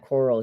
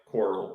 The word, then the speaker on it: Corral: How's it said? I think they say Coral mostly here.